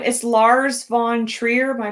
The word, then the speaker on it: Lars von Trier: But it's the director's name is Lars von Trier. Am I pronouncing that right?